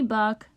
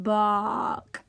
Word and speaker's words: Bach: wig yep it's me buck the greatest composer of all time ah that's great to see you my name is pronounced Bach yeah whatever listen buddy